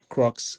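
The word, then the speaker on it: crux: Some of us have been making that mistake with pronouncing the name. It's smart be crocs.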